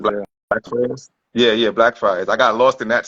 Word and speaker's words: Blackfriars: Yeah, yeah, Blackfriars.